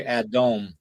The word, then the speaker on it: Adam: the pronunciation of it the pronunciation of it is originally adome yeah well and the